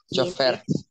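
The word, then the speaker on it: chauffeur: vamos a ver luego dice conductor de automóvil chofer el chofer correcto muy bien Este es el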